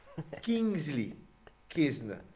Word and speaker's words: Kingsley Kesner: And to my wife, this is how you say his name properly, Kingsley Kesner.